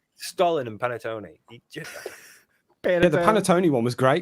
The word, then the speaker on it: panettone: This is the pronunciation. Panettone.